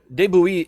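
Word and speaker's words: de Bouillé: last word right gilly it's b-o-u-i-l-l-e no david bowie no but de bouillee is one of these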